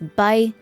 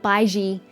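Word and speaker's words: Baizhi: But it's Baija, Baija, Baija. Something along those lines. I'm really bad at it, but it's not Baiji the way that they're pronouncing it here either.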